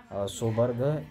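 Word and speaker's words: Sjoberg: और एक और नाम है जो सोबर्ग है, सोबर्ग, SHJ-O है, सोबर्ग इसको पढ़ेंगे, जे साइलेंट होगा यहाँ पर।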